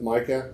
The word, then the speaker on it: Micah: My name is Micah, and I don't know if it matters, but it's MICAH.